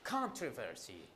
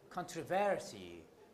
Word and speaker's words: controversy: the book controversy some some RP speakers say controversy some say controversy you see some put the primary stress on the first syllable others put it on the second syllable now what to do